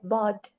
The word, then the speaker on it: ض: So when you actually like pronounce it, so I want you guys to say ض. When you feel your tongue, where do you feel it? It's at the roof of the hard part of the mouth, right?